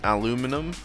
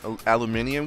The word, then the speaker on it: aluminium: through we've got some see the problem with aluminum guys if you're american and you're watching which you probably are let's be honest um is that we all say aluminum and we all know it's wrong it's not right granted they did make it the official term you can call it aluminum or loom aluminium all you want because both the spellings are correct um which i think